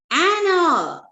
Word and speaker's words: hour: Third one, you should reach the railway station an hour. H is silent, so it begins with a vowel sound.